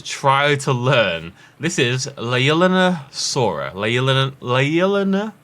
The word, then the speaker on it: Leaellynasaura: This is Leaellynasaura. Leaellynasaura. And the reason it's called Leaellynasaura is because the paleontology team, the couple who discovered this, their daughter was called Leaelyn. So it's Leaellynasaura.